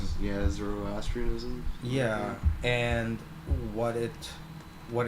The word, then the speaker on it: Zoroastrianism: at that same time area you had uh azorestanianism i think it's called i forget the pronunciation yeah zoroastrianism yeah and what it what it used what